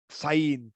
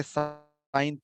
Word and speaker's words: sin: We don't have to pronounce it as sin. Okay, so say sine theta.